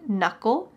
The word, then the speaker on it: knuckle: my fingers has a knuckle my thumb has one knuckle notice the k is silent but my other fingers